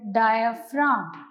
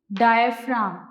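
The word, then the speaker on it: diaphragm: The dome shaped muscle at the bottom of our chest is called डायफ्राम। जी इसमें silent है, डायफ्राम।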